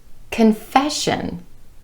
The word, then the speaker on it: confession: And also confession. Confession. Again, emphasis on that E vowel sound in the syllable right before the SION ending.